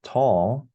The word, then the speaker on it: toll: Yeah, it's kind of an odd sound at the end there, right? Yeah. Maybe it's unfamiliar to a Korean speaker. Right. Probably. Yeah. Yeah. So in Korea, does it sound similar to tall, like spelling T-A-L-L?